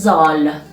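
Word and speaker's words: ذال: the eleventh leather is zoll zolo is pronounced as like zebra in english and its form is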